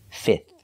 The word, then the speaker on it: fifth: fourth fourth and finally fifth we do not have to pronounce the f in the middle just three sounds and the last th like thank you fifth fifth so again first